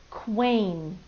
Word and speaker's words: queen: you to spell it queen now you'll notice in this word queen the u is outlined and it's white which if you remember from before tells us that it's a silent letter now it actually does